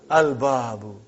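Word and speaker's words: الْبَابُ: Al-babu. Is it moon letter or sun letter? Moon letter. You did pronounce lam.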